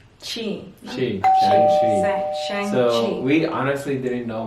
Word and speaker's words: Shang-Chi: So the movie we just watched, can you pronounce it? Shang-Chi. Shang-Chi.